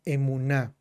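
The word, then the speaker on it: אמונה: La fe que en hebreo se pronuncia emuná.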